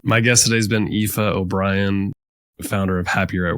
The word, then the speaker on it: Aoife: but just in case it's spelled AO i f that's epha and my surname is O'Brien O Apostrophe b r i n my guest today has been epha O'Brien founder of happier